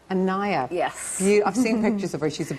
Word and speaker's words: Anaya: Pronounce her name, because I was afraid of getting it wrong. Anaya. Anaya.